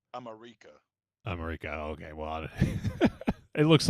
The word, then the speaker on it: America: Oh, it's pronounced America.